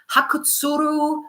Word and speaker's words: Hakutsuru: However, I did read that in March of 2023, a brewing company and Japanese distribution company, it's actually pronounced Hakutsuru Sake Company or Brewing, they actually became the exclusive distributors of Zima.